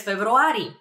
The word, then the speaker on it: февруари: For example, I'm born in February, so I would answer през февруари. През февруари. It's very similar to February. February. Just a little bit of a trick over there in pronunciation, but that means in February.